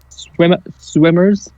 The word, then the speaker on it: SWMRS: But this band called Swimmers, but it's spelled SWMRS, and they're really good.